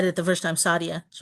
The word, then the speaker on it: Saadia: It's the way you said it the first time, Sadia.